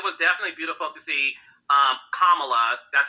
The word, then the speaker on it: Kamala: No, it was definitely beautiful to see Kamala. That's how you pronounce her name, Heavenly.